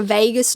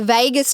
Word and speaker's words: vagus: Few reasons: same cells in the gut to the brain, our biggest nerve in our body, our vagus nerve.